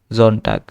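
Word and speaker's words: Sonntag: এস বর্গের জ এর মত উচ্চারণ হবে। সেজন্য জামস্টক। তারপরে আবার সেম হইছে এস আবার বৈকত দেওয়ার মত হবে দিয়া জনটাক তারপরে মান্থস অফ দা ইয়ার মানে মনাথে ঠিক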